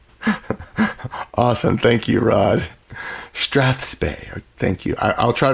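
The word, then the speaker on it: strathspey: for strap is strap last syllable being what Bob Barker always mentioned us to do to our pets awesome thank you Rod Strath spay thank you I I'll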